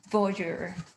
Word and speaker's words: voyeur: I like your, I was looking at your galleries and I loved is it called, ho I don't know how to pronounce it, voyeur? Voyeur.